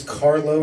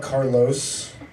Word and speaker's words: Carlo: Carlo hi guys my name is Carlo not Carlos I know people will